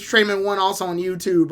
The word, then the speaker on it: Treman1: So make sure to follow Trayman1. I believe it's Trayman1 also on YouTube, right?